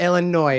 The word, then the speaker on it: Illinois: But Illinois is how you say it.